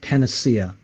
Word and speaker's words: panacea: I'm not sure why I remember it now, but it's pronounced panacea.